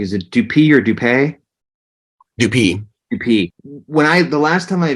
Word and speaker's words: Dupee: We also mentioned so Bellpine, Jory, and I may not pronounce this correctly. Is it Dupee or Dupee? Dupee.